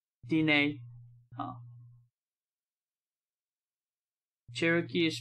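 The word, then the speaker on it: Diné: The emphasis is on the second syllable of Dine, so it's Dine, not Dine. Dine.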